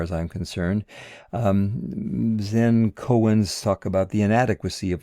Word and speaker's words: koan: go to the closure cohen's that's two syllables i believe cohen and it's the zen